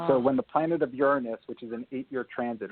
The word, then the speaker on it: Uranus: that there's something about Uranus or Uranus and that's what how Erik wants me to pronounce it uh implicates a possible